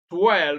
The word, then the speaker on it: twirl: wrong, and brew, but W is silent in all of them except in option C where you have twirl. So the correct option is C, twirl, because it is in twirl W is pronounced as it is pronounced in water.